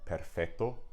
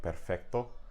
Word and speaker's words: perfecto: So that's why you have words like in Spanish like perfecto, which oftentimes people won't pronounce the C very, very strongly, but it is still there in the spelling.